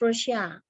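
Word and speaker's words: Rorschach: on the man-to-man scale the nerman res that is pronounced as russia introduced a multi-dimensional test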